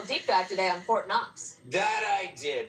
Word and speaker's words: Knox: What you did a little deep dive today on Fort Knox. That I did. The interesting thing about Fort Knox is that the K is silent.